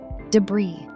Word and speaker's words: debris: Number 15, debris. Our very last word is something you see after a storm. The S at the end is completely silent.